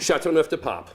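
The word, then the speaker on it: Châteauneuf-du-Pape: So I see that you're on Chateau Neuf Pape. How do you pronounce that? Chateau Neuf de Pape.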